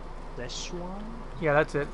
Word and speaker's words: Szechuan: Szechuan? Szechuan? Yeah, that's it. Szechuan.